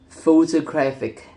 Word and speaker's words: photographic: When the suffix ic or ic is added, the stress shifts again to the syllable immediately before the suffix, resulting in photographic.